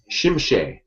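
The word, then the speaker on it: Tzimisce: novels of the original clan novels, and it's Shimshe. I would never pronounce it like that.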